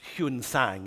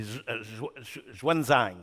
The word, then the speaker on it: Xuanzang: This incredible monk called It used to be pronounced Huan-Sang in the old thing, but Xuanzang is how he's pronounced today.